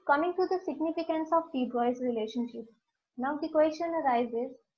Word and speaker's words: de Broglie: Here the name of the scientist, that De Broglie, he's a French national, so the pronunciation of his name is De Broglie. In India, we pronounce it as De Broglie, but it is wrong.